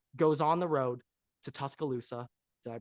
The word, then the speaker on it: Tuscaloosa: Number 11, Texas goes on the road to Tuscaloosa. Did I pronounce that correctly? Tuscaloosa, yeah.